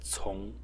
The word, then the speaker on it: 从: So in this presentation, I will talk about a Chinese character which is pronounced, it has two pronunciations, but the more frequent one is tsung, in the second tone.